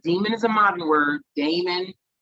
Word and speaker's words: daemon: is a modern word, daemon, right? The way it's spelled in, you know, in ancient times, it sounds like, it reads like Damon because it's Daemon or Daimon, okay?